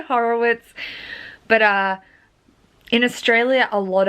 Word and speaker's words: Horowitz: Horowitz, technically. I don't know. I say Horowitz, but in Australia, a lot of like Germanic surnames, like with the W that you would traditionally pronounce as a V, like Slavic Germanic surnames